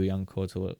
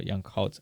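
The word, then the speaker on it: Yan Couto: Another really nice layoff from Guirassy to Young Koto, or Young Kaut, I think is how you actually pronounce him.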